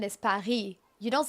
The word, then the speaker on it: Paris: The French pronunciation is pari. You don't say the s. It's not Paris. It's par. You don't say the s in the real French pronunciation.